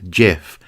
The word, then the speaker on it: GIF: it should be pronounced jiff but graphics starts with a hard G so I'm gonna stick with gif one of the features